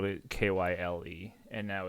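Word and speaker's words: Kyie: k-y-i-e yeah okay um still pronounced Kyle though yeah it's it's fresh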